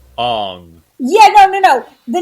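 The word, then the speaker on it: Aang: tell me your name it's aung are you sure it's on not although i think i think i read somewhere that actually in um chinese or tibetan or nepalese or something it is pronounced on yeah no no no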